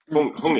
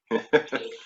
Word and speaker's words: hongi: Hongi. Represent Honi? How you spell that? Hongi. H-O-N-I? Hongi.